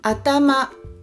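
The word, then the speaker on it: あたま: Atama, atama, 3 syllabes aussi.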